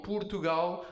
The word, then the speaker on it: Portugal: Portugal. Right? Not paw. It has to be up. Poo. Right? This already is an incredible hack. You know, like if you tell people Portugal, they're like, "Oh, the finances people."